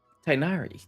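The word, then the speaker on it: Tighnari: to do as I've said Yes master tinari tinari that's how we pronounce it uh wait hold on a second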